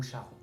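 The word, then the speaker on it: Charon: que dans les Champs-Élysées c'est car ou Charroux la prononciation tout le monde se bat car on charme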